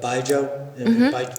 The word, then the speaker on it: baijiu: But the role of baijiu. Am I pronouncing it right? Baijiu.